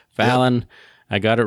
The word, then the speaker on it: Fallon: I have been pronouncing her name wrong. Fallon, yep.